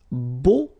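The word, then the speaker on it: beaux: Okay, so we'll see now the plural version, and it's beau. Okay, so you put this X at the end, but then you don't pronounce it, so it's beau.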